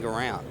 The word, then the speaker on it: Guerrant: that's actually my mistake that's Ben Grant the Frenchman heith told me specifically pronounce it Grant so he sounds fancier and here we go